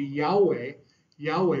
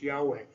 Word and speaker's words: Yahweh: This would be Yahweh, which we believe is the pronunciation. The name was so sacred to the Jews that we don't even really know the exact pronunciation, because they would never say it out loud. And but we believe it's Yahweh, that we believe that